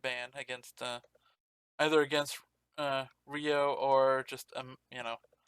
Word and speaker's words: Ryooo: two uh challenger tournament match uh between uh ryu and screw this rio it's how he likes it pronounced okay so rio all right anyway